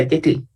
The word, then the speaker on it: Yetli: Sí, se pronuncia Yetli.